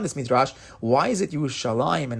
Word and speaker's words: Yerushalayim: We pronounce it Yerushalayim, but the actual the Ketiv, the way it's written, is Yerushalem.